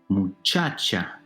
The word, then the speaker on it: muchacha: Muchacha. Muchacha. Second to last syllable.